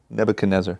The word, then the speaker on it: Nebuchadnezzar: Nebuchadnezzar.